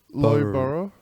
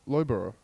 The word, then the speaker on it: Loughborough: Loughborough. Yeah, Loughborough. Loughborough.